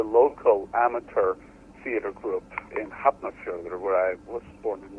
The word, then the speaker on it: Hafnarfjörður: I mean, when I started with the local amateur theater group in Hafnarfjörður, where I was born and raised. Oh, so that's how you pronounce it.